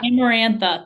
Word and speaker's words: Amarantha: say the crap her name I think it's amarantha yeah amarantha that's what it is so she is like I'm going to come save my man and she goes into the throne room or whatever and basically amarantha is like knew this was gonna happen like